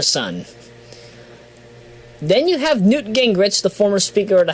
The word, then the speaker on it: Gingrich: It's not gang. It's ging.